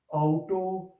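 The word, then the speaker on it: Auto: फिर इनको आउ करके प्रोनाउंस करेंगे, हाउस, आउटो।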